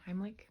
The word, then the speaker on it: Heimlich: I say his name, Heimlich.